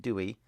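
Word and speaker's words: Dewi: Non named her son Dwyth, though local Dyfed pronunciation meant that he was commonly called Dewey.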